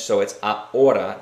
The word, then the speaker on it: ahora: Remember, the H's is silent in Spanish, so it's ahora, not ahora.